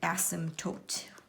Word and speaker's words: asymptote: as everybody's favorite and asymptotes with the silent P okay so what I'm